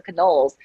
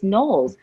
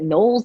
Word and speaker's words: Knowles: phone asking for Canoles and I was like I can't believe they all they always mispronounced my name it's so easy it's nulls like Knowles it all and he